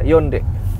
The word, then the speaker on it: Hyundai: Nama mobil ini adalah Yonde. Kamu tahu itu? Yonde Stargazer. Ya. Honde. Ini bukan Hyundai. Honde. Honde. Honde.